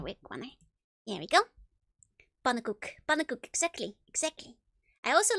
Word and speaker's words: pannenkoek: Oh, that's true, but everybody pronounces his name incorrectly. People keep like having like a weird pronunciation. It's pannenkoek, if you want to.